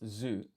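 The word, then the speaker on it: づ: Okay, so this one is du pronounced zu.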